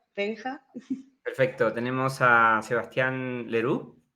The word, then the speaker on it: Leroux: perfecto tenemos a Sebastián leru está bien la pronunciación Lero muy bien bien tengo que seguir Aprendiendo la pronunciación en francés bueno es director de